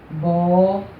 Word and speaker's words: abóbora: E a sílaba que recebeu um acento foi a sílaba bó. Ela soou com mais intensidade, vocês perceberam aí.